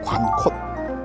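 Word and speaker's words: 관곶: 되냐면 관껏 관꽃이 되거든요 근데 제주도에는 절대 여기를 관고지라고 안 해요 관콧이라고 얘기를 합니다 우리나라 지명은 하여간 바닷가에서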